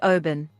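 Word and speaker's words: Oban: i'll do it again ken just said oben that's actually right i know i mean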